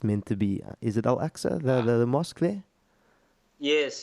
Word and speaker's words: Al-Aqsa: Is it Al-Aqsa, the mosque there? Yes. It's AQSA. How do you spell it?